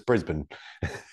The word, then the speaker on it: Brisbane: I'm a Kiwi, so you can butcher these names for Australians as much as you want, but it's Brisbane.